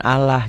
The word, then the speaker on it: Allah: Justru kalau sebelum lafaz Allah barisnya di bawah, pengucapannya sama persis seperti saudara-saudara kita yang Nasrani mengungkapkan Allah gitu loh.